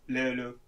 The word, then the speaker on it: löyly: just löyly. It's so difficult for people to pronounce.